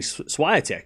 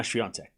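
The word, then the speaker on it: Świątek: me in 2020 when I was saying swattch because I'm an idiot and didn't know a thing. And then, but once we got to the final of the French Open 2020, I was starting to say it right. So, like we watched the first match and I was like, swatch, hey, idiot, you're saying it wrong.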